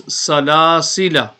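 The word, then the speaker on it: سلاسلا: Okay, so it is better to read it as salasila. The extra alif will not be pronounced.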